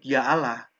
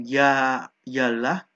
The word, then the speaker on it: Ya Allah: juga disebutkan ketika menyebut Ya Allah bentuk munada seruan pengucapannya bukan Ya ialah melainkan Ya Allah kenapa seandainya tidak ada